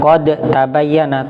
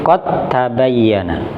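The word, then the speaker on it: قَدْ تَبَيَّنَ: Makanya qalqalanya hilang, bukan qad tabayyana tapi qad tabayyana.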